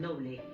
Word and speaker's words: Noble: de un siglo este edificio albergó al hospital noble como se pronuncia en español el apellido Nobel el hospital